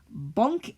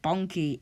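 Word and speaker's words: Bonke: It must be like Bonky Innocent or something. It's definitely not Bonk Innocent.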